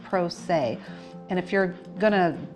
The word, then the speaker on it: pro se: And those people are called pro se which is p-r-o s-e and it's pronounced "pro-say", and if you're going